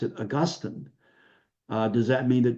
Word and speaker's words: Augustine: of Hippo and we don't pronounce his name Austine we pronounce it Augustine uh does that mean that Dr Ross's views